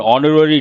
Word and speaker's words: honorary: The university conferred an honorary degree upon the distinguished scientist. Here, honorary, not honorary. H is silent, based on that an, not a.